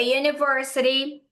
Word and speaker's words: university: Aqui tem uma explicaçãozinha porque university começou com a letra U, mas eh os americanos consideram esse DI como se fosse um J, porque não é o U purinho clarinho.